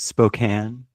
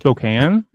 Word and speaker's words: Spokane: It's pronounced Spokane Washington. Spokane.